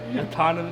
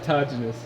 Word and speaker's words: autogenous: Autonomous. No. Nope. You're close. You're close. Fuck. I forgot how you say it. Autogenous.